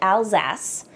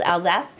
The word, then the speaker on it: Alsace: But Alsace, and that's how it's pronounced, I've been told, Alsace is our Riesling HQ.